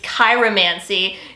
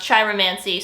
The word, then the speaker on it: chiromancy: palmistry or chiromancy okay i understand that i pronounced that incorrectly it's cairo mancy in my defense though someone online told me it was pronounced chiromancy so i trust the internet i mostly focus